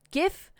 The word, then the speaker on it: GIF: in july 2016 newsweek declared its gif with a hard g and has a linguistics